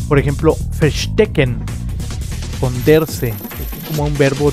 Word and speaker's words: verstecken: Y se pronuncia como F. Por ejemplo, verstecken.